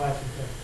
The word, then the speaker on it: asymptote: And that's how you find the vertical asymptote. Now, in some problems, you'll be able to factor before you can set equal. I did spell it right. In fact, it's totes, like the old umbrella. Totes. Asymptote.